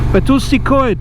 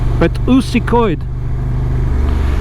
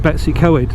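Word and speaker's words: Betws-y-Coed: I was taught how to say it by a Welsh colleague many years ago. Betusikoid. Because where I come from, we always call it Betsy Coed, and that doesn't go down well.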